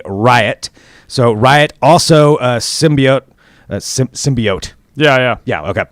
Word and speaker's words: symbiote: So Riot, also a symbiote. Yeah. Okay. I almost said it wrong. Symbiote.